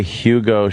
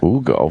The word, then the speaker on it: Hugo: I say Hugo Chavez. I say good riddance. I'm gonna go with I'm gonna go Ugo. I'm not gonna pronounce that H. No. Nah. Ugo.